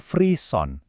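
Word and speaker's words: frisson: Dibacanya freeon. Ini istilah dari bahasa Prancis yang artinya menggigil.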